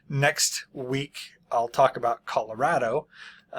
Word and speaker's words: Colorado: We call it Colorado. I believe it would be more correctly pronounced Colorado, but don't try to pin me down on my pronunciation. I know that Colorado is from the Spanish.